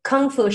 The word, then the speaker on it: Kung Fu: Kung Fu should be pronounced in Mandarin, Kung Fu.